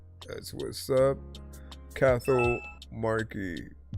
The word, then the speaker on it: Cathal: Cathal Markey. And then if I'm right, pronounce Kahal. Was it Kahal? Kahal? Let me know if I said it right.